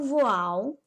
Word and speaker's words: voil: vou utilizar é o voal se escreve voil mas fala voal ele também é bem